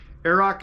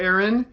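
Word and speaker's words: Earrach: had in the title is pronounced arok not Aon so thank you Leona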